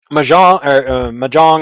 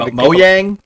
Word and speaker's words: Mojang: Microsoft did it with Mahjong, or however you pronounce that company's name. Mojang.